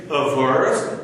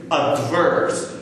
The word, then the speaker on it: averse: people are more risk a verse let me clarify here a lot of people use the word incorrectly they pronounce it as risk adverse adverse there is no